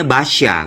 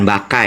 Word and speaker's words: Basya: nih gue cerita Basya Monggo bacanya Basya bukan bukan baka ya Jadi ini teman-teman nih